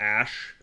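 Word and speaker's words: Aesc: Why do I pronounce Ask like that? I just am phonetically pronouncing it like as it's spelled instead of just pronouncing it like Aish or Ash as it's supposed to be.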